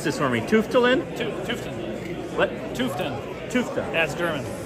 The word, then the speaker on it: Tufteln: So I'm here with Joshua from, pronounce this for me, Tufteln? Tufteln.